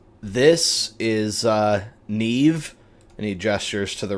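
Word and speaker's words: Niamh: Um and he says this is uh Neve. And he gestures to the red-headed lady. Nev is an Irish name and it's spelled like this and pronounced Neve.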